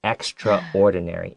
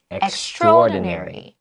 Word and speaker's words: extraordinary: amazing oh pink fun being and it's not pronounced extraordinary it's extraordinary okay so remember that all right because i